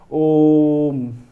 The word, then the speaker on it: ओम: जो इसका मतलब है कि ओम को सिर्फ ओम करके नहीं चुप होना है, इसका दीर्घ उच्चारण करना है। क्या कहना है? ओम।